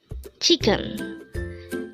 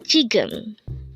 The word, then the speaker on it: 지금: word number 82 Chum Chum this is pronounced as a two syllable word the first syllable is G second syllable is gum pronounce it with me jum jum what is the